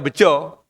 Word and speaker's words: Beja: saya temukan ada dua ada beja pakai A itu berarti daerah Jawa tengahan yang dibaca beccoo jadi orang Jawa tengahan Itu kalau ada A itu dibaca beco Jaka itu dibaca Joko